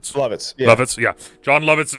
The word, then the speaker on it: Lovitz: Lovitz.